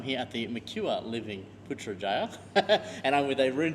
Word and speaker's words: Putrajaya: It's very simple. Putrajaya. Putrajaya. We just follow by the spelling. So it should be easy, yeah?